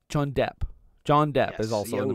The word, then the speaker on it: Depp: There was a guy named Jonathan Deep. John Deep? I believe it's pronounced Depp. John Depp. John Depp, yes, is also in the movie.